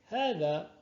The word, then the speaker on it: هذا: Comme certains l'ont peut-être remarqué, lors de la prononciation de ces pronoms démonstratifs, nous faisons une prolongation après le ha. Pourquoi? Alors que vous voyez bien, il n'y a pas de alif après le ha, le alif de prolongation. En fait, il est sujet d'un alif de prolongation qui ne s'écrit pas.